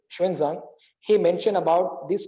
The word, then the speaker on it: Xuanzang: famous Chinese scholar Xuanzang, we call Hunsang, the wrong pronunciation, the correct is Xuanzang.